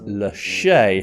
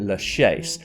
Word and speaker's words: Lachaise: refer to it as leche however some tour guides and documentarians pronounce the S and call it Le then I found one